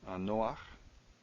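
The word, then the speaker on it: נֹחַ: So in this case, you get this patach showing up furtively. And it's a bit odd, because it kind of breaks up your rules of syllables. Bit of an exception. We saw it before with Noah, Noach.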